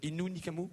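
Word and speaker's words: Innu Nikamu: J'ai bien prononcé au début, j'étais pas sûr. Inu Nikamu.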